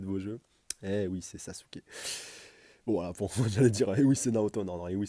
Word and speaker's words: Sasuke: le déclar sasuk enfin sasuk normalement faut prononcer comme ça si tu veux si tu veux bien prononcer à à la japonaise et donc alors on